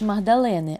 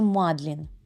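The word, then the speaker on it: Magdalen: не якийсь там коледж магдалени а один з найпрестижніших коледж Оксфордського університету який був заснований ще у 1458 році і назвали його на честь Марії магдалени а правильна вимова назви коледжу мадлін це це дуже схоже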